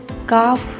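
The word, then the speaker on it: calf: काफ, इसमें L silent रहेगा, काफ, काव्स।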